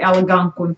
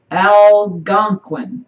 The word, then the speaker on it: Algonquin: how they do Algonquin yeah Oh Algonquin our again okay I'm putting an extra syllable in there they say as you can say can or Quinn yeah but I was